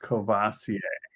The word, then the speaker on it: Courvoisier: yeah let's see alone is saying whatever that word is is pronounced Courvoisier gotcha that's what you were saying I get